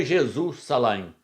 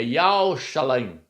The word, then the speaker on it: Yahshalaim: Não é Jesus Shalaim. Não é Jeová Shalaim. Não é Yahvé Shalaim. É Yahshalaim. Yahshalaim. Esse é o nome da cidade santa, que significa Yah é paz.